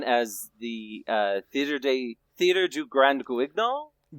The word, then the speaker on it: Guignol: This genre was known as the Theater du Grand Guignol. Guinal? Okay. Mm-hmm. All right. So for those of us in the audience, that's how it's pronounced in French.